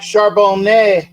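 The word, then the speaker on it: Charbonnet: uh um there's a you don't pronounce the t in French because well they're pretentious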